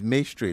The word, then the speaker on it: May Street: Yeah, it's May Street, not Maye. Maye? It's May. It's a Ghanaian name.